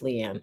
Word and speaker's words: Liane: bit light a um that's not how you say my name it's Leanne I'm making fun just